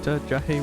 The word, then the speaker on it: Jahe: Okay, so it is like a hard J. It's Jahe.